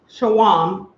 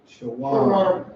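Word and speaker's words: שום: In Hebrew, garlic is pronounced shawam. Shawam.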